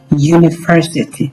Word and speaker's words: university: So, we think university. So, university. U the sound is U. So, U although the word begins with a vowel but this vowel is pronouncing like U sound.